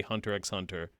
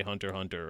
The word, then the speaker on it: Hunter x Hunter: The X is silent. Yeah, I've always been saying the X. It's crazy how people, like, the general consensus was to say Hunter x Hunter.